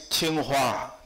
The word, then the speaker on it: Tsinghua: And by the way, just now, our host, in his speech, he pronounced my university very difficult. That's a problem, not your problem. That's our problem. My university name is Tsinghua.